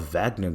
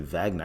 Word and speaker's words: Wagner: the vat it's called Wagner group I didn't even know you pronounce it Wagner I said Wagner the whole time it's Wagner group so yeah Vince give